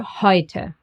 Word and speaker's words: heute: And E and U. Together, they get pronounced as oi, like in europa, neu, or heute.